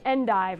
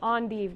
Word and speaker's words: endive: So another cool loving green perfect for September is endive or endive, depending on how you pronounce it.